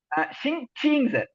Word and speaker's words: 星期: இத வந்து நீங்க தீ அப்படின்னு ப்ரொனவுன்ஸ் பண்ணிடுறீங்க. இங்க இது தீ கிடையாது, சி. ஆனா இது கொஞ்சம் நீங்க கவனமா இந்த சவுண்ட் இப்படி உங்களுக்கு மாறுது, சிங்தீன்னு மாறிடுது. அது ஆக்சுவலி சிங்சின்னு வரணும்.